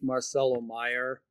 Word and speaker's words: Marcelo Mayer: back at second um I think Marcelo Meyer I believe is the correct pronunciation um he has a